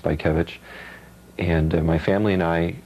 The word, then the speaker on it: Bajkiewicz: name is and it's pronounced by kevich and my family and